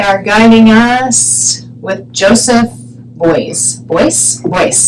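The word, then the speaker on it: Beuys: guiding us with Joseph boys boys Joseph boys that's how I pronounce it Joseph Boyce voice I'm going to say boys and he is a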